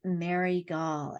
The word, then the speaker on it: Mary Gaul: She is Mary Gaul, and she is, did I pronounce that correctly?